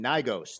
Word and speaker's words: Gnigos: I'm playing Gnigos. The G is silent.